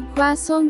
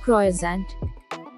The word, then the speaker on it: croissant: to pronounce this word it is not croissant correct pronunciation is choi song song kwa song stresses on kwa sound kwa song kwa song